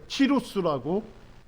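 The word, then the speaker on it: Cyrus: 예, 뭐 영어로는 사이러스라고도 해요. 예, 그런데 요즘은 뭐냐면 교과서에서 그 나라 언어로 발음을 많이 씁니다. 그래서 키루스라고 아마 세계사에 나올 거예요.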